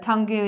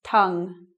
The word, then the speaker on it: tongue: interpretations of this word let's say that usually like tongu or something it sounds like a game that you can play but tongu is not right its tongue spit read I'm not